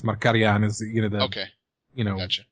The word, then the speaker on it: Markarian: way sure i mean mercurian is an english english-sized pronunciation i think it's marcarian you know okay you